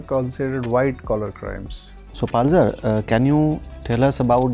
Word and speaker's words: Palzer: Sir, Palzer. Palzer. Yes, sir. Okay. Chewang is good pronunciation?